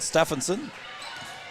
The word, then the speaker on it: Stephenson: and controlled by Stephenson I was told to pronounce it Stephenson and that's what I will do Chloe Paulson now brings